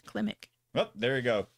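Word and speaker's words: Klimek: scored by johnny kilmick kelvin how do you pronounce that well if you spelled it right it says climic oh there you go klimik uh budget of 190 million and we're currently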